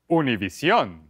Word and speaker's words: Univision: Univision.